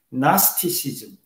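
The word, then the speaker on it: Gnosticism: 영어로 발음할 땐 G를 발음 안 하죠. 나스티시즘, 영지주의.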